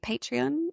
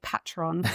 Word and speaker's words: Patreon: Um you also have your I can never say it properly, Patreon. Yes. That's how you say it. Um also I was always want to say Patron. Some people do say it like that.